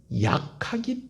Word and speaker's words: 약하기: 그리고 또 하나는 뭐냐면 그 사람이 약하기 때문에 상처를 준다는 거예요. 자, 따라합시다. 악하기 때문에, 약하기 때문에. 발음을 구별하셔야 됩니다.